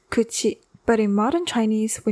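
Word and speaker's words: 口: Much like how it's still used in modern Japanese today, pronounced kuchi.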